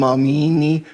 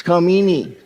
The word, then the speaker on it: Khamenei: Some are pronouncing him Khamenei, some Amini, some Khamenei. It's Khamenei.